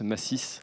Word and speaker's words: Massy: Oui, alors j'ai oublié de préciser, mon prénom se prononce Massis.